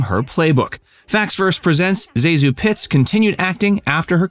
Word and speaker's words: ZaSu: In her 1963 book, Candy Hits, published the year she died, Zasu gave the correct pronunciation as Zasu.